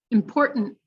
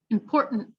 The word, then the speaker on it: important: the end right accountant important same thing glottal and then held important last one maintenance maintenance